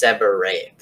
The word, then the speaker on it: seborrheic: So the first type of dermatitis is seborrheic. If you don't know how to pronounce that, you're basically going to make this H silent and look at it as one R, so it's seborrheic.